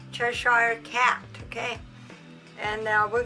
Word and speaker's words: Cheshire: church tire right kelsey churchill how do you pronounce it cheshire cheshire cat okay and now we're gonna use this